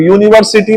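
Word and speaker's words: university: अब यूनिवर्सिटी में क्या आ रहा है? उच्चारण। देखो उच्चारण कैसे आ रहा है। यूनिवर्सिटी लिखोगे तो यो आएगा कि नहीं?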